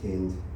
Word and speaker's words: Hind: Yeah, Macklemore came out with a new song, pro-Palestine song called Heinz Hall. It's actually pronounced Hind.